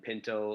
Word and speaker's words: Pinto: spelled like beautiful, and Pinto like the car, the bean, or the horse.